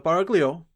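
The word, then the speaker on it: Baraglioul: The Barglio, the GL is pronounced Italian fashion as in Brogley, the Duke of and in Milgionire, came originally from Parma.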